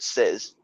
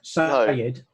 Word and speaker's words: says: he doesn't know how to say the word says. S-A-Y-S. Oh, no, he doesn't, does he? Sayed.